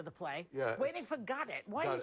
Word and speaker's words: Godot: Because that's, I think, the pronunciation that Beckett wanted. Oh. Yeah. Well, everybody else says Godot. Some. The French don't, they say Godard. The Germans go Godot.